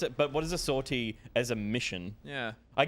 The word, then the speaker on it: sortie: Soirees. It's pronounced. Is it? No. Sortie. I don't even know what they are. I saw it too. It's like sortie is French for exit.